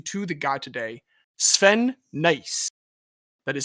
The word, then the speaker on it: Nys: I will talk about the sport later, but first I want to introduce you to the guy today, Sven Nys. That is spelled N-Y-S, Sven Nys.